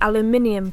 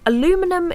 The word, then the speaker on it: aluminium: sometimes known as the aluminium plant and yes I did just say it like that aluminum is so much easier to say but over here we say aluminium yeah it's weird anyway